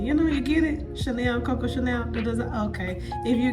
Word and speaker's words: Shánelle: I accent over my A, so it's pronounced Chanel, but that's a story time for another time.